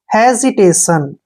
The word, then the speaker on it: hesitation: जब भी आई से पहले एस आता है तो एस का उच्चारण जय होता है।